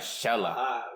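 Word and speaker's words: Xela: But it's pronounced like Shela.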